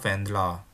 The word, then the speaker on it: Wendler: Ich heiße Wendler. Ingat ya, cara baca ER kalau di belakang suatu kata itu kayak A ya, seperti itu ya.